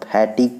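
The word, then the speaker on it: fatigue: तो इसी तरह से हम फैटिग पढ़ते हैं, फैटिग में यू ई यहाँ भी क्या है, साइलेंट है।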